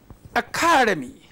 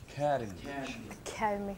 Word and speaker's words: academy: So it is this stress that changes.